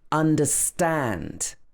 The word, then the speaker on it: understand: In some words, the word is stressed at the end. For example, understand.